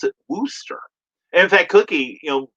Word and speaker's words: Worcester: worcestershire you know like the sauce but they pronounce it wooster in fact cookie you know living up in the northeast as she did for many years um she calls it worcester sauce here at the house lee and parents